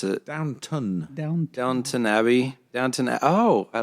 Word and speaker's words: Downton Abbey: I know, not downtown. What's it? How do you pronounce it? Downton. Downton Abbey.